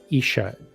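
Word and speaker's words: Ișah: AH, and it's pronounced Isha. The S is SH. So Isha.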